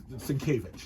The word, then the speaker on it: Sienkiewicz: There's not a V in his name at all, but it's Sienkiewicz.